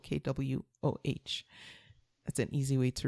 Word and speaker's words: Kwoh: It's spelled Kwohtations. And it's a play on Janine's last name, which is Kwoh, Kwoh.